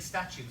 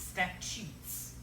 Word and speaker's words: statutes: kid Mary say stat I thought it saying statues I'm like we have M statues no it's not statues it's statutes we'll explain that in a